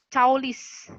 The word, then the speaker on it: caulis: ini cukup unik ya jadi dibacanya pun sesuai tulisannya seperti ini bukan caulis tapi caulis ya sama aja ya nah adapun fungsi